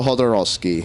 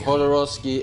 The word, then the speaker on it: Jodorowsky: it I have time Alejandro hodosi hodosi and the uh that's with a J by the way not an H right um well the